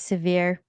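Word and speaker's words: Sevier: just wanted to say it's severe County it's a it's a neighboring County to S Pete but yeah we're not gonna pronounce it the French way Bill okay sweet all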